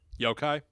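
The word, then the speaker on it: yōkai: kind of like been passed along, known as yokai, which I know you're going to talk about. And that was that is that how you pronounce it? Yokai?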